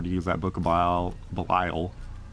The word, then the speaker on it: Belial: As long as I remember to use that Book of Belial. Belial. How do you say Belial? Book of Belial? That's right.